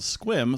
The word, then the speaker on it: Sequim: in a little bit called squim spelled Sequim I definitely said Sequim the first time when you looked at